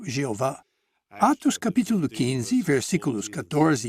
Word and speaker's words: Jeová: ou j V em português esse nome é hebraico é geralmente pronunciado Jeová Atos Capítulo 15 Versículos